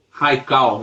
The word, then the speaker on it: Haikal: Nós estamos com o Raical. É assim que pronuncia, né, doutor?